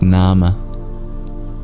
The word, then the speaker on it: nama: the vowel e indeed in English Old English you'd pronounce it Nama just as it was in Sanskrit thousands of years ago but it has a